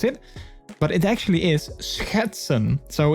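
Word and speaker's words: schetsen: well like i think a lot of foreigners have trouble with the sch sound um which i think a lot of people actually would say sketch sketson perhaps if you would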